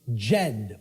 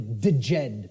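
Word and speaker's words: Djed: was known as the the Jed or the deed pillars depending on how certain people pronounce it and these Jed pillars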